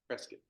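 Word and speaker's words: Presque: going to journey to Presa or as the locals say do you know how the locals say it I would have thought you guys would have known it presc like biscuit biscuit like biscuit which I can't stand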